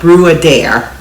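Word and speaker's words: Bruadair: And so I'm sure that I'm not pronouncing it right, but phonetically it looks like brew a dare.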